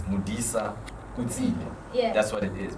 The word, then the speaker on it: Modisaotsile: know my surname happens to be how to pronounce for some reason which isn't i mean it's modisa yes that's what it is people just happen